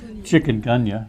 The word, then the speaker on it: Chikungunya: So the mosquito-borne illnesses, you get 5 points if you can pronounce the first word. Chikungunya, yes.